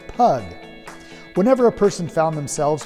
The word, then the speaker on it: pygg: than they do today during the time of the saxons pygg would be pronounced pug but as the pronunciation